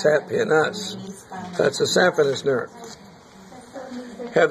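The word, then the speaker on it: saphenous: this no no this is the sapis we pronounce it saf in us but it's spelled s a p h n o u s sap in us that's a sapin nerve have this huge one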